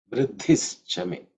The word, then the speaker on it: Vriddhischame: Vriddhischame. again, the visarga has become in terms of pronunciation, dhi in iddhi, again it's the fourth letter in the third varga, so it has the aspirator.